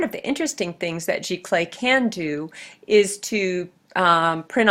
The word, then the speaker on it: giclée: And this is a giclée print, and if you see it as G-I-C-L-E-E, that's how you say it.